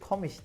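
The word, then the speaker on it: komisch: enteresan bulduğum bir şey komik kelimesinin diye yazılıp komiş diye telaffuz edildiği ama komik anlamına gelmediği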